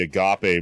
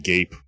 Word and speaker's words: agape: did get called right wing and also i mispronounced the agape movement and thought it was a group called the gape uh people whose logo is a fist which